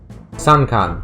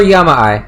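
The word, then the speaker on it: 山間: How do you say that? Sankan. Oh, that's all it is. Okay. Or Yama-ai. Okay, there are two. I knew there were multiple readings for this thing. Yeah, it's Sankan, or there's Yama-ai, or Yamama.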